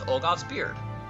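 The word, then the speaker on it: Ulgoth's Beard: not important, we're going to go deal with Olgoth's Beard. Okay, cool. I'm glad I pronounced it correctly.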